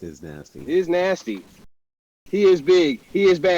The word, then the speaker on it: Iznazti: voice to the player series is it pronounced is nasty it is pronounced is nasty is nasty he is big he is bad